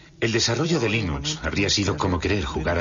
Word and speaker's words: Linux: los eeuu lo más seguro es que lo pronunciaría line ucs pero a linus torvalds le importa un bledo